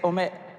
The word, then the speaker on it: Omelogor: I'm always going to pronounce her name incorrectly. Say it. Omegolor. Go on. Michel Martin: No, I'm going to mess up. Omegolor. Chimamanda Ngozi Adichie: Well done. That was a good try.